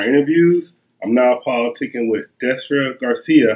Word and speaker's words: Destra Garcia: listen some our interviews I'm now politicking with desra Garcia how you doing hi I'm fine good I